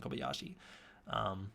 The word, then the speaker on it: Kobayashi: can 100% remember that their names are Tsukioka and Kobayashi. That's how you pronounce them.